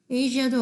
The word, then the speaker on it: Asia: 그래서 이 즈 발음 보면 television, usually, Asia도 어려워. Asia라고 보통 많이 읽어요. 그냥 S 발음을 내버려요.